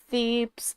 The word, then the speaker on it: Thebes: It's Thebes, isn't it? It's Thebes, and I always say it wrong.